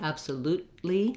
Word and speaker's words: absolutely: Here we use a stopped T, absolutely, where I go to make that T, but I don't release it out. Not absolutely, but absolutely. I just release it right into the L.